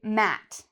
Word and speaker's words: mat: So for example, this, I would say mat, mat, just like the word at, mat. Whereas this word is actually mate, mate. So mat and mate.